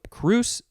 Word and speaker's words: crus: is related it is cruce or crus spell just c-r-u-s and that is the latin word that's the etymology of the one that we just read so what does it say it is a noun from circa 1751 by the way the plural it would not be cruces it would be kura c-r-u-r-a that's an interesting plural for a word so kruse is the singular and kura is the